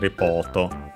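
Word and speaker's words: レポーター: reportage uh yeah it's accented on the po as expected reporter.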